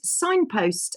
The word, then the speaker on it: Cignpost: And he also co-founded Signpost, which is spelled CIGN, by the way, CIGNPOST, Diagnostics, and he works with the elite in express PCR testing.